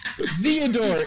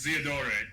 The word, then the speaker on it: Zeodor: Zeodor. It's Theodore with a Z.